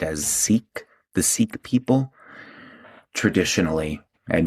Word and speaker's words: Sikh: SIKH, you might know it or commonly hear it pronounced as Sikh, the Sikh people.